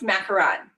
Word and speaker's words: macaron: So it technically is pronounced macaron. Macaron. Yes. So the way that we normally hear the word said, macaroon, that is a different word.